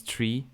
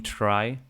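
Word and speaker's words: trie: tree data structure yeah I think the the actual pronunciation is tree but I'm used to saying try just to distinguish from a from a regular tree uh anyway so yeah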